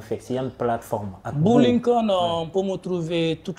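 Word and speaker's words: Bou Linkon: Boo Lincoln. Boo Lincoln, ça sonne comme Abraham Lincoln, okay. Mais ça s'écrit différemment.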